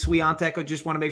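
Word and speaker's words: Świątek: right uh just because for our fellow polish fans it is swian Tech I just want to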